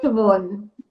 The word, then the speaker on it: Siobhan: How do they pronounce it? Is it Siobhan? Siobhan.